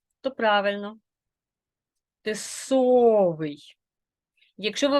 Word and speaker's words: тисовий: і звук наголошений тисовий якщо О то правильно тисовий якщо ви вимовляєте не так як я значить ви наголошуєте